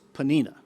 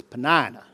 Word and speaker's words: Peninna: I guess if you're from Ohio it's Pennena but if you're from Georgia, it's Peninna. Take your pick.